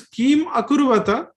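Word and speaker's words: किमकुर्वत: So this kim akurvata, this when they come together, they also will be pronounced as kima kurvata. You can pronounce both the ways, kim akurvata or kima kurvata. Both the things are okay.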